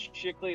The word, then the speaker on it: Shickley: It's Shickley. It's spelled exactly as stupid as it was written.